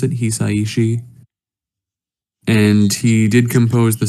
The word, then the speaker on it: Hisaishi: yeah yeah he yeah the composer's name is hisaishi I believe is how you pronounce it hisaiishi and he did compose